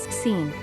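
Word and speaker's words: سین: symbolic items starting with the Persian letter S, pronounced as Seen.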